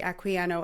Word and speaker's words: Equiano: We're gonna wrap up soon, but I want to know, because you are the head of content for the Equiano. Am I pronouncing that right?